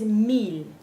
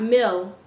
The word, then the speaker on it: mil: This is mil, not mil. Mil. Keep that, be faithful to that sound.